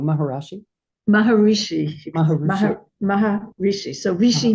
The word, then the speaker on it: Maharishi: uh I I don't want to say his name wrong maharashi Maharishi Mah Mah Maharishi so Rishi means SE Maha